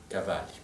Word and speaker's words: Cavalli: et d'autres très inconnus que je prononcerai à l'italienne comme Pallavicini par exemple ou Cavalli, qui sont des auteurs